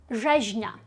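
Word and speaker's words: rzeźnia: Викликає трішечки страх, тому що маємо rz на початку, далі. RZ, в принципі, часто викликає страх, бо важко запам'ятати, як його правильно ми читаємо, в яких місцях. Так, здебільшого апріорі по замовчуванню ми RZ читаємо як ж. Тверде ж, як в слові жаба, наприклад.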